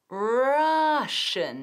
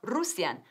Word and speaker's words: Russian: Y como estoy pronunciando la palabra ruso, Russian, no, Russian, rush, Russian. Como nuestra palabra para la hora punta, rush, rush hour, Russian, rush, tiene una SH, rush, eso es, muy bien.